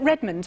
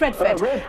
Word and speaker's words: Redford: I just want to bring in another contributor here, which is Father John Is it Redmond? Forgive me if I got your name wrong. Yes, Redford. Redford.